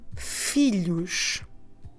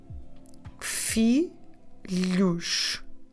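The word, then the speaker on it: filhos: daughters is the word felouch fee luche on this one we have that sound we get with the LH together so felouch we spell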